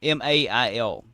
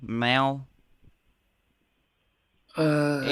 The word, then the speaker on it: Mali: Mail. Is that how you pronounce it, Charlie? Mal. I M don't A know.